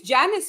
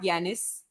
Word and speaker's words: Janice: It's Janice, right? Not Yanis. Yeah, I believe it should be Janice. If she is if she is female, yes, that should be pronounced Janice. Yeah, Almost like I Janis mean, Joplin. I mean, he or she could be European and then it'd be Yanis, like the sweet, like the Scandinavian JNY thing.